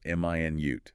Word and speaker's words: minute: This one depends on stress, right? Stress on the first syllable. M i nute. That's the unit of time 60 seconds. Stress on the second syllable minute. That's the adjective meaning very very small, tiny.